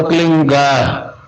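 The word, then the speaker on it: क्लीं: एक मात्रा और बिंदी, उसका उच्चारण होगा क्लीन गा। गा की ध्वनि निकलेगी पीछे। आप अंग बोलो, यहां स्ट्रोक लगता है, अंग बोलो।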